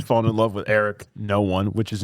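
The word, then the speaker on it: Noone: daughter, but she's fallen in love with Eric No One which is Noon just n o o n e.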